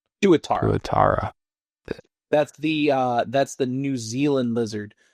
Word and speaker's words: tuatara: Can you tell me if I pronounced that correctly? Tuatara? Tuatara.